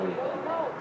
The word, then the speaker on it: Louisville: Or how it should be pronounced, Louisville. And then some of the names, I believe they pronounce it Louisville, or Louisville, instead of Louisville. Louisville? Louisville, yeah. It's like Whoville.